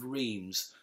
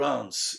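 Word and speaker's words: Reims: refer to it as the angel rheems or ants if you prefer the local pronunciation and I just think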